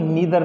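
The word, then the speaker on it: neither: इसे बेटा देखो हम नाइदर बोलते हैं ना, लेकिन नाइदर इसका सही उच्चारण नहीं है, नीदर नॉर।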